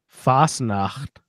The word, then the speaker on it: Fasnacht: they're having in Helvetia Fasnacht it's FAS na CH T yeah fast enough yeah